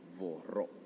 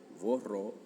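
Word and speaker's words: vorrò: En este caso volere va a ser doble r y vas a decir borro, ¿okay? Vorro, vorray, vorrá, etcétera.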